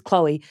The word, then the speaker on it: Chloe: And her name, I think I've said it publicly, so I don't care, is Chloe. So rhymes with no.